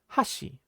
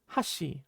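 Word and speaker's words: 橋: So bridges are called hashi in Japanese, but be careful because hashi is also how you pronounce the word for chopsticks.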